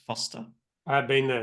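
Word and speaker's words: Forster: in Foster it's it's spelled forer but it's pronounced Foster I have been there it's a good spot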